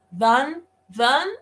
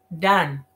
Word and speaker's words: done: Yo no la podré no la puedo pronunciar si lo digo así. Dan. Ay, ¿qué le pasa? Pobre enfermita de algo que le dio. No es así. Done. Ya vieron qué diferencia.